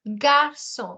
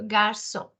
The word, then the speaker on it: garçon: This G alphabet followed by A is pronounced as ga. So this one is garçon, as you pronounced it earlier, garçon.